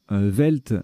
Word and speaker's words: veld: Velt, donc ça s'écrit VELD ou VELDT.